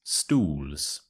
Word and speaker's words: stools: going to look at is stools stools so this is an easy way to sound very British indeed um so the thing you need to focus on is the OES sound o oos so similar